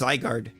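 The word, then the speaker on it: Zygarde: in that yeah no that e is silent it is yes yes Colgate toothpaste over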